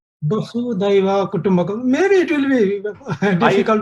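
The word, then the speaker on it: Vasudhaiva Kutumbakam: It is Vasudhaiva Kutumbhakam. Vasudhaiva Kutumbhakam.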